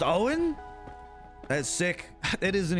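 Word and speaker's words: Eoghan: to say it though it's Irish no that's they that's perfectly fine Owen is pronounced Owen that's sick it is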